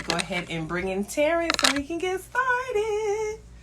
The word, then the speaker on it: Tarren: I am Tarren, and it's pronounced Tarren.